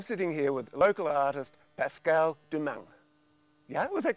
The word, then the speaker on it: Pascale Doumeng: I'm sitting here with local artist Pascale Doumeng.